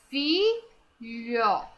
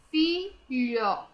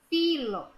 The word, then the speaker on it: filho: Filo. Não é filo, é filho. Lho. A letra H está sendo pronunciada junto com a letra L.